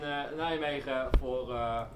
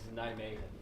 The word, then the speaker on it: Nijmegen: Nijmegen. We've been saying Nijmegen. But we've been told that if you're English, it's okay to say Nijmegen.